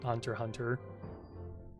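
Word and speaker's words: Hunter × Hunter: or I guess like Hunter x Hunter but I'm pretty sure it's pronounced just Hunter Hunter I don't know much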